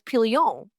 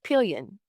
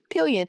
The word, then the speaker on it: Pillion: Okay, so Jasmine and I, because we did not know how to pronounce the name of this film, it's Pillion, which we thought was Pillion or Pillion, but it is actually Pillion. Pillion, which is a motorcycle or bicycle saddle for a passenger.